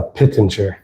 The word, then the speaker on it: Pittenger: So uh um but how do you how do you pronounce your last name? Uh Pittinger.